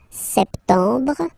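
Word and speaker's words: septembre: as well so September septum remember this you don't insist on the final uh septum septum then same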